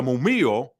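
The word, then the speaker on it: murmillo: on the other hand I know it's a double L but I'm using the Spanish and the Italian pronunciation of it okay for those of Y that are wondering why I'm using a why sound the the mumo on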